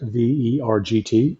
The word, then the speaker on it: Vergt: But the town of Ver, which is Vergt, it's pronounced Ver, is maybe 2 or 3 miles down the road, which has everything you need.